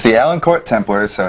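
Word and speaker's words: Élancourt: team again it's the allen court templars so it's e-l-a-n court but they don't pronounce the t which throws me off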